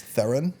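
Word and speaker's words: Theron: see was monster with Charlie's theren that R rhymes with Heron and came out to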